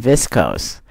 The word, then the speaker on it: viscose: There's a pronunciation. Cellophane is a thin, transparent wrapping material made from viscose.